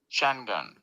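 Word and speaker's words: Şengün: be the only North American outlet that actually pronounces shenon right watch this hold on Shen gun Shen gun Shen gun you got you want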